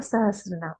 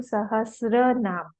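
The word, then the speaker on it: सहस्रनाम: Pronunciation इसका होना चाहिए विष्णु सहस्र नाम। हम लोग कई बार बोल देते हैं सहस्त्र नाम, वो गलत है। तो टी जो है वो नहीं है वहां पे, SRA, विष्णु सहस्र नाम।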